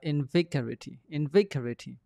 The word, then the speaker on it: invigorating: ကိုလွယ်တယ်ကျွန်တော်တို့ဒါအလုံးသိတဲ့စကားလို့ဖြစ်နေတယ်ကျွန်တော်ဒီမှာမပြောတော့ဘူး and နဲ့ invigorating vic ကိုဖိမယ် vic ကိုဖိမယ်ဆိုတော့ဒီမှာဖိတဲ့သင်္ကေတလေးเนาะ stress လေးပြထားအဲကြောင့် invigorating အဲ့တော့ the taste is